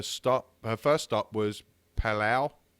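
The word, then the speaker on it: Palau: her first stop was Pala p a l Au U I think I'm saying it right yeah that's right uh since then she's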